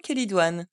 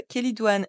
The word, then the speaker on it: Chélidoine: ses substances actives alcaloïdes avec le Che qui se prononce que l'origine grecque du M